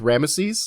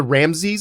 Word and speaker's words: Rameses: it was interesting that they actually pronounced the middle e with rames yeah like it's kind of into ramsy but there is a difference between rames and there was an actual ramsy yeah my my whole life I've only heard ramsy so I thought that this was the same guy and I've just been hearing it pronounced wrong the whole time yeah yeah and it's